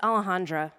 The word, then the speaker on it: Alejandra: problems for the record I just pronounce it Alejandra but I usually tell people to call me I say it the easy Gringo way as in Alley Cat Alleyway back alley that's what everyone at